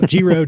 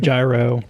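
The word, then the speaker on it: Giro: Um nobody really cares how you say it as long as you're thinking about them. So JRO gyro JRO, nobody cares. They're all the same.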